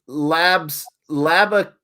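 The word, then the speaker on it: Labuschagne: Marnus Labaskakni would be the easiest way for you to say his name. It's you call that easy, sup? Thank you for the super chat, but that ain't easy. Labaskagni.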